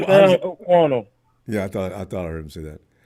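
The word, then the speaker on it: Sam Okuayinonu: It's Sam O'Quano.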